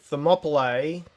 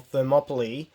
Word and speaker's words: Thermopylae: next month or so so thermopylae or thermopylae depending how you wish to pronounce it means hot gates